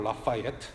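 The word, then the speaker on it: Lafayette: 예, 혹시 프렌치 전공하신 분 계신가요? 뭐 라피엣이라는 발음이 있더라고요. Anyway, 영국식 발음으로 라파예트, 그렇죠?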